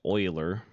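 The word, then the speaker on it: Euler: it's spelled EUL er it is pronounced oiler he proved that the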